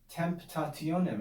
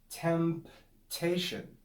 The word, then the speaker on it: temptation: you pronounce it clearly make sure you pronounce the m and the p and the t temptation temptation it's difficult to